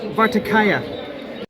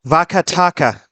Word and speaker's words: Vakataka: But they came back about 500 years later and they made things that were far more elaborate under the Vartakaya? Vakataka.